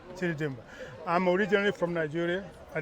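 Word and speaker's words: Chidi Dimgba: My name is Chidi Dimba, and the first name is C-H-I-D-I, last name Dimba, D-I-M-G-B-A. So it's easy to pronounce without the G, without the good part, but it's Chidi Dimba.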